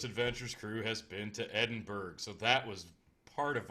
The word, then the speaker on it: Edinburgh: Am I pronouncing it wrong? I suck at words. No, it's Edinburgh. The curator, the person who walked us through, she pronounced it Edinburgh, so we're going with that.